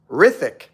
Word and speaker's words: Rithic: The H is silent. Rithic.